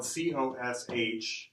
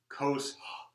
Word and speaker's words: cosh: so you notice that this is spelled cos H so almost everybody says cosh here so nobody says coast you can't really say that so everybody says cosh of X here so that's hyperbolic